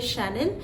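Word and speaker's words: Chanel: আছে এই ব্র্যান্ডের সাথে তো এই ব্র্যান্ডের সঠিক উচ্চারণ আপনি এভাবে করবেন যে শানেল এবং এই ব্র্যান্ডের যে সূচনা করেছিলেন তিনি একজন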